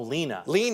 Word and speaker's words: Lena: Oh, Lena. Lena, yeah. It's like Colita, yep.